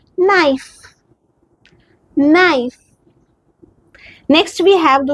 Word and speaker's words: naïf: e i, so see how we pronounce naïf.